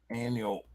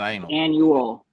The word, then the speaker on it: annual: your pronunciation is bad don't leave out the you are not anal you put the U in annual wow somehow I had